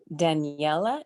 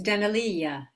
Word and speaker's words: Danalia: Daniela, is that how you say it? It's Danalia. Danalia.